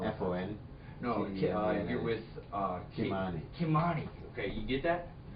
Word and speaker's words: Ky-Mani: No, you're with Ky-Mani.